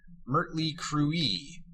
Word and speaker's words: Mötley Crüe: At one Motley Crue performance in Germany, the entire audience started chanting Mötley Crüe, a pronunciation often used in Hungary as well.